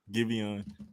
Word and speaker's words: Giveon: Giveon.